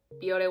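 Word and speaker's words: Bioré: So yeah, it's pronounced Biore.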